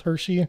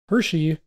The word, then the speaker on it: Hershe: Hershey, which problem with that name too, because it's not spelled like Hershey's chocolate or anything. It says H-E-R-S-H-E.